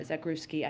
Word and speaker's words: Zakrzewski: CEO of Fox this morning that cameraman Pierre Zakrzewski, I just want to pronounce his name the right way.